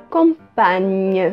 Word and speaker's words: compagne: Então, le compagnon et la compagne. Le compagnon et la compagne. Lembrando que vai ter esse GN, que é um pouco parecido com o nosso NH, tem o som de nhe. Então, compagnon, compagne.